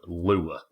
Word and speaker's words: lure: Now, people in the north get from people in the south for saying lure, putting two syllables in it.